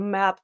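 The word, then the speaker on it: Mackinac: pronounce that wrong like people call it maak Island but it's ma um I know it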